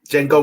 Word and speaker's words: Django: Django D was is silent.